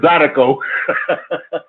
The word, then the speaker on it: zydeco: I was laughing the way when you said the word, when you were saying Zydeco, it's Zydeco.